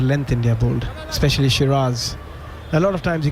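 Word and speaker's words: Siraj: about uh Muhammad S I say sirz you say shiras yeah yeah it just feels counterintuitive I know I should say shiras cuz that heard his name pronounced out but anyway what was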